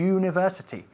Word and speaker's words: university: Por cierto, se dice uni y university, y no university. ¿Ok? Es you, igual que you, tú. University.